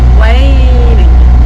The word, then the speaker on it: waning: And if it's decreasing, it's waning. Waning. Wax waning. Yeah. We have to pronounce the A's and remember way.